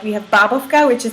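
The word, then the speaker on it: bábovka: Wait, so how do you pronounce that? Babovka.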